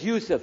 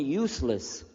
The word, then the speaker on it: Yusuf: work on it Shah my name is Yousef can you say Yousef you say Yousef you're very good I wish you teach my wife she keeps mispronouncing it she calls me useless alhamdulillah now how many